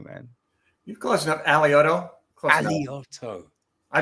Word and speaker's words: Alioto: I butchered your name man you closeing enough alioto aloto I butchered myself too so it's okay well Dean